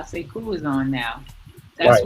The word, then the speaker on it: Sekou: Oh, Sekou. Sekou. Say cool.